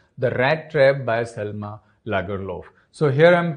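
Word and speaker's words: Lagerlöf: rat trap by selma lagerloff so here i'm pronouncing this word as laguelo because she is a swedish writer and that's why this pronunciation the theme of this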